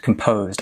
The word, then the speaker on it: composed: So the stress is on the po, composed. Stress is on the second syllable, composed.